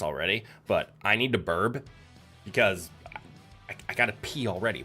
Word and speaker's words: BRB: You also heard burb. Okay, I can understand why burb, BRB, is heard as burp. You guys are fine. I'm just pronouncing BRB. Burb. Not burp.